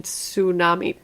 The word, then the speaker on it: tsunami: it dot com and the person pronounces the t and tsunami tsunami would you continue to